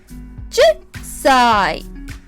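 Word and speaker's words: 十歳: We pronounce it 10歳 10歳.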